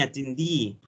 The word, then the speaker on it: attendee: Nominee, attendee. Exactly. It's like a French pronunciation. It sounds quite French.